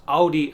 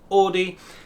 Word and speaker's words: Audi: that it is pronounced Audi and not Audi. The pronunciation is thanks to another German diphthong, the AU, gives us an OW sound.